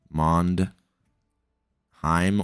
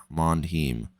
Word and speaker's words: Mondheim: So Mondhe him or Hem, however you want me to pronounce that. Um, so yeah, Mand for Mandis, Heim or Heem, however you guys want to pronounce that. Mandem.